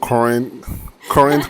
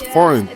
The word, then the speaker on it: forint: You kept calling it current coin as opposed to foreign. It's foreign, not coin.